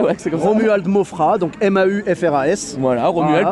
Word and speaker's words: Maufras: Donc, Romuald Mofra avec un S à la fin qui ne se prononce pas. Ouais, c'est pareil. Ouais, c'est comme ça. Romuald Mofra, donc M-A-U-F-R-A-S.